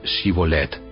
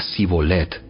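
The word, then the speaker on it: שיבולת: Si decía el hombre: no, no lo soy, ellos le pedían que pronunciara la palabra Shibolet. Si era de Efraín, diría Sibolet, porque a la gente de Efraín le cuesta pronunciar bien esa palabra.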